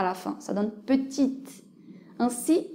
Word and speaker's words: petite: la fin ça donne petite ainsi on passe à prononcer le T mais pas le E voyons maintenant quelques combinaisons